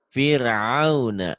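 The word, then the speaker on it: فرعون: Gimana bacanya? Fir'auna.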